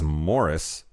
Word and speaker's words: Maurice: I believe the generally accepted pronunciation of the book title and character is Morris. I kept saying Maurice because that's how it was fucking spelled.